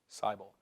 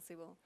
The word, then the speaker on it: Seibel: Michael Siebel is, do you pronounce it Siebel or Seibel? Seibel. Okay, he's Michael Seibel. He's not Michael Siebel.